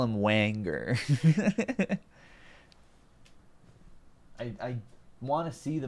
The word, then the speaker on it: Wagner: see the spoilers Ben God damn it it's pronounced Wagner yeah yeah I'll call him Wenger I want to see the movie he uses